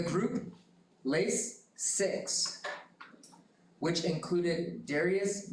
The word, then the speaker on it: Darius: lace six which included Darius milhad that is pronounced Dareus and Francis plun was